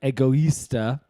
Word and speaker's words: Egoista: on that website anyway uh it's called um egoista and i think it's great